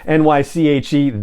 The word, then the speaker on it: Naichi: social media that that character's name is naichi pronunciation nyche that is the name of corn Horn's mother